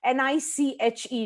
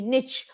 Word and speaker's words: niche: do uniquely what's your niche n-i-c-h-e niche or niche whichever way you pronounce it right so what is